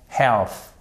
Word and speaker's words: health: Et évidemment, health. Alors, comment on le prononce? Un peu compliqué. On a le H, on a le EA qui se prononce comme un E.